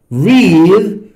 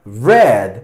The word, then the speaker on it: read: Recuerden el verbo read, ¿okay? En presente se pronuncia read, en pasado se pronuncia red.